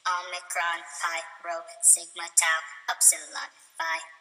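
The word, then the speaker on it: πῖ: P, not pie, but P. Fee, not phi, but fee.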